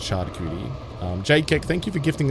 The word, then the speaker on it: charcuterie: It is pronounced charcuterie.